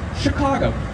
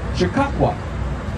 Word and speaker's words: Chicago: answer was of course chicago which is the french pronunciation of a native american word chicago so the native americans would walk around this area and say this word chicago all the time the